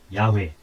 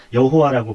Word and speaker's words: 야훼: 아노키, 나는 야훼, 엘로헤카, 너희 하나님 야훼다. 야훼라고 읽는 것이 현재까지 알려진 중에 가장 정확한 발음입니다. 여호와라고 번역도 하지만 여호와보다 좀 더 정확한 발음입니다.